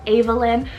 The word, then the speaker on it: Avalyn: next up we have Avalyn it's about a-v-a-l-y-n this one also yes can be pronounced as Evelyn but I've been really